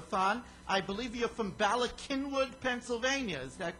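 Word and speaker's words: Bala Cynwyd: the uru radio th I believe you're from balak kinwood Pennsylvania is that correct that's right I I pronounced it right she did very even though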